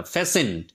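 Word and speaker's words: fasten: মাঝখানের টিটা কিন্তু সাইলেন্ট ওয়ার্ড উচ্চারিত হবে না। ফ্যাসে।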